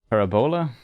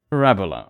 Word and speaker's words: parabola: a what is this how is pronounced parabola parabola almost why is my stress always wrong kind of funny yeah